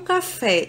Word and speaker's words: café: não é acentuada então como um café é acentuada sílaba fé eu já sei que é a sílaba tônica então a sílaba tônica é fé é a última sílaba mais forte logo fé vai ser oxítona palavra caju a sílaba